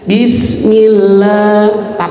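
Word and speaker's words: بسم الله: Bis sifatnya huruf sin, jangan bis langsung mi, harus ditahan. Bismillah, tapi jangan ditambah huruf e. Bismi langsung huruf ma ya, tapi agak ditahan. Bismillah gitu ya. Bismillah, sanya itu masih ada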